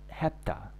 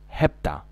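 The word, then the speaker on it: hepta: اوكي 7 في وبعدها 2، 5 وبعدها 2 يبقوا 7، تنطق هبتا، هبتا كان في فيلم اسمه هبتا.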